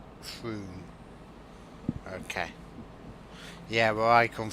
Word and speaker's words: Frome: Typical English place names pronounced Frome, but only one O. Frome.